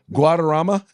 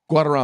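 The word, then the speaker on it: Guaderrama: Brown's opinion joined by joined by Judge I'm I'm not even going to pronounce it. An Obama appointee Guadama. Guadama.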